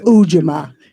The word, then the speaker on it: Ujamaa: It's Ujamaa.